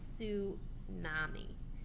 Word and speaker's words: tsunami: this kind of wave is tsunami pronounced tsami a Japanese word for seawave a tsunami is generated